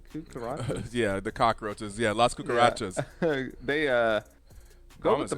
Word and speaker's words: Las Cucarachas: Yeah, Las Cucarachas.